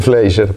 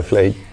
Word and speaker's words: Fleischer: Es alemán. Se dice Fleischer, pero es aceptable, Fleischer.